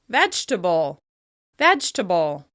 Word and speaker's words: vegetable: Moving on to another food example, we have "vegetable," which usually drops that second vowel sound and is pronounced "vegtable, vegtable." Another -ble word that loses